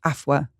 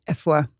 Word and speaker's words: Afua: So yes, over time, I just started introducing myself as Afua, whereas actually the proper Ghanaian pronunciation is Afua. I love that. It's like between an A and an E.